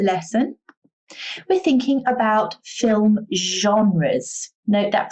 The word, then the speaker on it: genre: theme of the lesson we're thinking about film genres note that pronunciation genre now a genre means the type